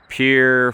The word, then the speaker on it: Pierre: Once you cross the Missouri River or those lakes by Pier, Fort Pier. Um it it's spelled like Pierre, like French, you know, but it's Fort Pier or Pier Pier or Chamberlain, South Dakota.